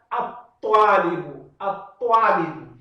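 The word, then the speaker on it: الطالب: E nesse caso, lam ash-shamsiyya, né, é que ela é escrita, mas não é pronunciada. Aqui é termo alfamu. Então, lam é pronunciada e é escrita. Ao passo que aqui, lam, ela é escrita, mas não é pronunciada. E a primeira letra da palavra, nesse caso, né, toa, ela ganha shadda. E é lida com muita força.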